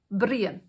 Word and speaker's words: Brian: Now, the Irish for the words house is and the Irish for the name Brian is Brien. So, it's spelled the same, but it's just pronounced differently.